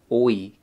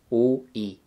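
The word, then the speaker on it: 오이: We're going to be using the word oi, cucumber. O is iung and o. And as you know, the iung is silent in this case. And then e, o-e, cucumber.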